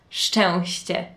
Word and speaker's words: szczęście: And then it has ś, and then it has ć. So it's szczęście.